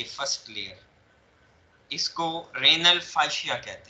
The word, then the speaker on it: fascia: जो पहली लेयर है, ये फर्स्ट लेयर, इसको रेनल फाइशिया कहते हैं।